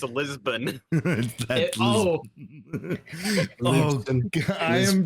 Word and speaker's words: Lisbon: that is not Lipson. It's Lisbon.